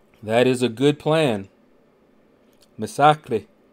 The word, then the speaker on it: Misaki: is a good plan Misaki just in case you guys wanted to know how to pronounce his name that's how you pronounce his name not massacre but Misaki all right now we're back